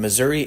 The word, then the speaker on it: Missouri: And Missouri and Misery are pronounced the same way, although they're spelled differently.